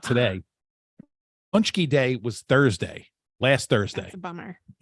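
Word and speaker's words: pączki: Pronounced Those are Punchki.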